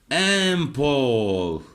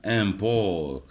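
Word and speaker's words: un port: امبور الحرف التي هنا سايلنت. ليه؟ لأن القاعدة العامة الحرف الساكن في نهاية الكلمة لا ينطق بصفة عامة. امبور ميناء بحري.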